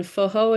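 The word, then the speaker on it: Forró: And Foho is a specific style underneath that. Forro is how you spell it.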